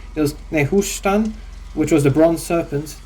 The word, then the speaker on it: Nehushtan: For instance, there was Nehush, let me pronounce this right. There was Nehushtan, which was the bronze serpent put on the cross by Moses.